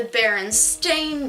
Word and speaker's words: Berenstain: with Berenstein. Yeah. It's always been like that. Then why is it the Berenstain Bears? Like a stain on your shirt, that's how it's spelled.